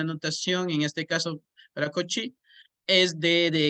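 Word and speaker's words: Cauchy: 4x y igual n y se pronuncia el coche coche como cochino pero prácticamente ya entonces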